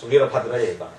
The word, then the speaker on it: Veerabhadraiah: Probably he may not be remembering my name, because my name is very difficult for a foreigner to pronounce. Veerabhadraiah.